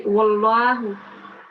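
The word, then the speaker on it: وَاللَّهُ: So it will be wallahu.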